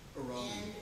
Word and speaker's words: Hiromi: Hiromi. And did I say her name right? Hiromi, yeah.